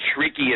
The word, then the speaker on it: shrieky: WWE freaky calm but shrieky is spelled sh r EA KY so it's shrieky freaky calm and you